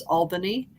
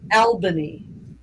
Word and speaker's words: Albany: had to help him with was how to pronounce Albany in New York, because in other parts of